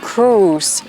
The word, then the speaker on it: cruise: ไม่ ใช่ นะ คะ ตัว นี้ ออก เสียง ว่า Cruise Cruise เหมือน ชื่อ ดารา ท่าน หนึ่ง นะ คะ Tom